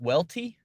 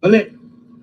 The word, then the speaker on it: Uuelte: Olet. What's happening, Olet? My boy, Olet. Olet. He says, what's happening, Olet? I don't know where he gets the O sound from.